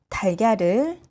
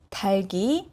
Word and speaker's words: 닭: 닭 is pronounced as 닭, not 달. However, when it encounters 이응 at the back, 닭이, no, 달기, 달기. So here, 리을 stays and 기역 goes to the back.